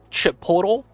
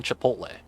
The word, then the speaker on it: chipotle: came out with the Chipotle sandwich is that chip portal ciabatta and they just can't mispronouncing Chipotle that that's what that reminds me of that